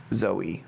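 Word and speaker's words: Zawe Ashton: russo also fantastic i i think it's pronounced zao ashton um i thought it was a performance i've never seen i was just like trying to read it out i thought it was away but yeah well some people say it's pronoun it's pronounced like bowie with a z zoe but uh a coalition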